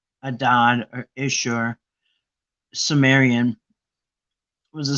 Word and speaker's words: Adad: So Hadad, Adad, Akkadian is pronounced Adad or Ishur, Sumerian, was a storm and rain god in the Canaanite and ancient Mesopotamian regions, or religions, I should say.